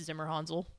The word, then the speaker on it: Zimmerhansel: It's Zimmerhansel. Yeah, I like that. Yeah. I figured it was a soft probably A German. and not a hard A.